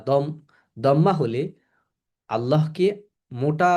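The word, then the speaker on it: الله: আল্লাহ শব্দের পূর্বে ফাতাহা বা দম দম্মা হলে আল্লাহকে মোটা বা আল্লাহ পড়তে হয় যেমন এখানে দেখতে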